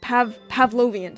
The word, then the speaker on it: Pavlovian: That is how you pronounce Pavlovian, sorry.